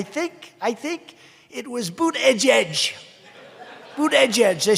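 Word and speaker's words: Buttigieg: I think it was boot edge edge boot edge edge they said think of it as boot and then edge edge because nobody can pronounce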